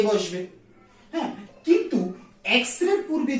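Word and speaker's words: X-ray: এক্স রে, এক্স রে পূর্বে কি বসবে? উচ্চারণ করি এক্স, এক্স এ, এক্স, তার মানে কি এন বসবে।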